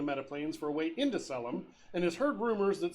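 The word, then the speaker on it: Caelum: a collective of AIS inhabiting a metaplane called selum that's spelled c-a-e-l-u-m uh it was purged of all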